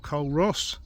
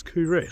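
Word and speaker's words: Culross: I reckon I'm about 2 kilometres from Couris or Coal Ross. The correct pronunciation apparently is Couris, so we'll go with that.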